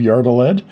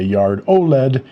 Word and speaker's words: Yard-O-Led: I want to talk about the history of Yardled and I'm pronouncing the name how I heard it from Molly Yard. Of course, you can say Yard Oled if you choose.